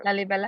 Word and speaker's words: Lalibela: Lalibela. Yeah, Lalibela.